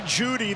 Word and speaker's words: Jeudy: Jerry Jeudy, the E is silent.